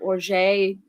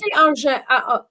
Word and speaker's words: orgeat: And maybe a different style of orgeat, depending, maybe I want something less sweet.